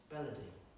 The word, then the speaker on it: baladi: That's B-A-L-I-D-I, baladi. That sounds, but it's pronounced belody.